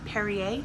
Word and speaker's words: Perrier: if I'm not during your regular water is Perrier this is how you say it I get